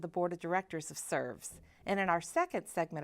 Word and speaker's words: SRVS: now Today's Show is about an organization that serves once called the Shelby residential vocational services this organization is now simply named srvs pronounced serves and what an appropriate name as